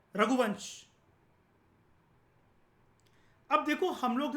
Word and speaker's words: रघुवंश: आप इसको रघुवंशा मत कहना, ये रघुवंश है.